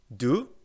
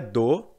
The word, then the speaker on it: do: assim vamos lá pronúncia do das não é dor e não é dois beleza porque geralmente quando